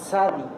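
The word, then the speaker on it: צדי: Y esta sección, la letra es la letra Sadi. Esta letra no aparece en nuestro vocablo como en español. Eh, es un poquito como nosotros cuando pronunciamos pizza, ¿no? Es este una T y una S.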